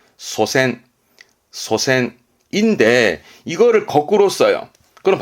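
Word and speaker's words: 祖先: 발음은 소센, 소센인데 이거를 거꾸로 써요.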